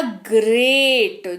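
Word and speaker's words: great: की बात करते हैं जहां पर हमारे पास जी के बाद अगर व्यंजन हो तो वहां पर जी का उच्चारण ग हो जाएगा यह हमने पढ़ा दूसरे रूल में चलिए देखते हैं कैसे पहला शब्द है जी आर ई ए टी ये हो गया ग्रेट जी के बाद क्या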